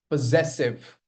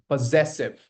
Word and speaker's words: possessive: Possessive. Again, the stress lies on z possessive. It's not possessive.